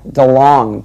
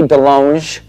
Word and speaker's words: DeLonge: I am Tom DeLonge, but it should be DeLonge, because I went to France, and they said, you're pronouncing it wrong. I'm all DeLonge. They're like, no, it is DeLonge.